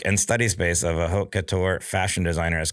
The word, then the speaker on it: haute couture: So, I'll mispronounce this. What is it? Haute couture? What? How do you say it? Haute couture.